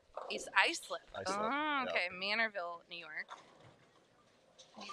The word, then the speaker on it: Islip: You're going to know how to say the name Icelip. I'll never pronounce pronounce it wrong again.